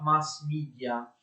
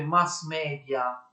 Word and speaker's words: mass media: I mass media, mass media in realtà si pronuncia mass media, è un'espressione inglese, non è un'espressione latina.